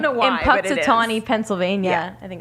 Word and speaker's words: Punxsutawney: Okay, I don't know why, in but it Punxsutawney, is.